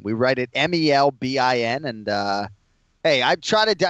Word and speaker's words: Melbourne: And yeah, I'm glad someone appreciates the pronunciation thing. You know, we go with Melbourne. We write it Melbin.